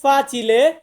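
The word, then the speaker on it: facile: আমরা উচ্চারণ করি এফ এফ এ দিয়ে হচ্ছে ফাঁচিলে ফাঁচিলে মানে সহজ সহজ এটাকে আমরা বলবো ফাঁচিলে জি দিয়ে হচ্ছে গাত্ত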